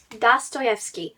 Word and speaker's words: Dostoevsky: Dostoevsky? Dostoevsky.